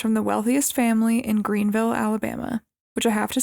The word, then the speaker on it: Greenville: after living in Alabama, they have a lot of places named something, but they don't pronounce it Vil.